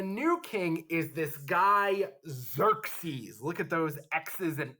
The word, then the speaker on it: Xerxes: king is this guy xerxes look at those x's and e's and you say his name with a z sound even though it starts with an x like xerox or xylophone xerxes so he is the